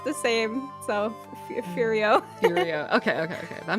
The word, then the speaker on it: Furio: fero yes ferero why did I say that like Ferrero or what that's not how you say how do you say the F fio wait wa the the guy's name yeah just it's furio furio furio from I have experience